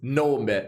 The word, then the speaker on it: nome: In Italian is nome, so I guess it's always similar in every language.